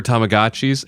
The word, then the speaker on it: Tamagotchi: the contract with them they were like it's Tamagotchi like have we been pronouncing it wrong for 30 years yeah because even the